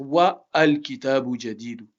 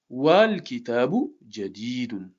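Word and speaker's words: والكتاب جديد: Ça va pas être wa al kitabu jadidu. Parce que c'est un hamzatul wasl. C'est un hamza qui est instable. Wal kitabu jadidun.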